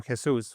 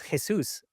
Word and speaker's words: Jesús: If you really wanted to, I'm not saying you should, but people who speak Spanish will pronounce my name Jesus, which nobody can say it if you don't speak Spanish.